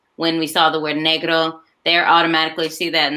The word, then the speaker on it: negro: with that word so it's not negro it's negro so i definitely would make sure they understand the pronunciation that it negro is not the same as negro and then it's also not the n word but i also have